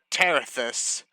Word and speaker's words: Terethus: You were pronouncing it right. It's Terethus, and then Zenith and Karmatic.